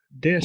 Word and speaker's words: det: So the letter T, as you just heard, and even you did repeat it well, is also omitted. Oftentimes you don't hear it, so you say det ska jag ha.